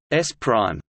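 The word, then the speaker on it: S′: frame/s belongs to a first observer and frame/s pronounced s prime belongs to a second observer oh the X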